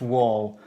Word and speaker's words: Wahl: it says Wall premier wall is spelled W a h l that's wall wall premier you probably get there